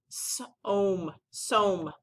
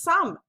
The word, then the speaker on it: some: You would think this word we would say som. Well, that doesn't sound right. This word is some. But it should be som if we were to say it like it's spelt. So this is another one of our oddballs this week.